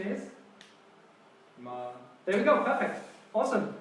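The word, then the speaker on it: 妈: And pronunciation is? Ma.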